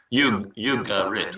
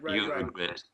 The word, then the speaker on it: Ugarit: I pronounce that wrongly sometimes, but Ugarit, I think. Ugarit, yes.